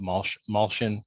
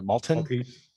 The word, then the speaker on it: Maltese: I saw you make an unusual loaf of Maltion. Is I saying it right? Malton? Maltese, Maltese bread.